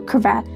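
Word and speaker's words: cravat: ownership of the um let's make sure I'm saying this right. Crevat. Okay, I was saying it wrong. So crevat uh the ownership of the crevat.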